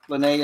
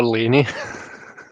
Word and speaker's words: Lene: Oh, I called her Laney. Sorry. Oh. I had to double check my notes just to make sure. I'm like, is it? Was I pronouncing it wrong? Yeah, no, I think it's just me. I thought it was like Laney, short for Elaine. That's just what I saw in my head. But yeah, no, Lene makes more sense.